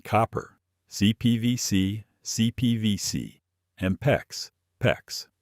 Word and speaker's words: PEX: PEX rhymes with flex.